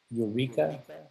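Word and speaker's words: Eureqa: The software for symbolic regression is called Eureka.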